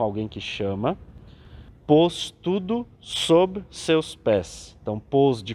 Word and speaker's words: sob: Pôs tudo sob seus pés. Então, pôs de colocar e o sob falando aqui com B mudo, né?